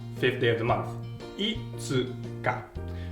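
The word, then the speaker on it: いつか: Now, fifth day of the month, itsuka. Shorten ulit natin ang tsu pag magpo-pronounce tayo ng mabilis.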